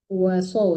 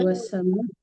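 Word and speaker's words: وَالسَّمَاءَ: قرارا والسماء بناء وصوركم Wasow, jangan wasow, nggak ada tasdid. Ulang dari wasama.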